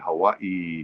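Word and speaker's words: Hawaiʻi: I'm pronouncing it Hawaii instead of Hawaii because there is that little apostrophe, which I think is a glottal, it indicates a glottal stop in the pronunciation. So it's not Hawaii. There's no Y, it's Hawaii. I believe.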